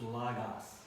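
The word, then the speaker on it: λόγος: the way they um like logos it's not logos it's Lagos the Omicron there is an ah sound but anyway so here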